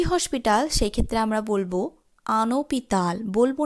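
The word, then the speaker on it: un hôpital: যেমন যদি আমরা বলি একটি হসপিটাল সেই ক্ষেত্রে আমরা বলবো আনোপিতাল, বলবো না কিন্তু ওপিতাল। অর্থাৎ ইনডিফিনিট আর্টিকেলসটি এবং সেই শব্দটির মাঝে কোনো শূন্যতা রাখবো না বা স্পেস রাখবো না, একত্রে শব্দটির উচ্চারণ করব।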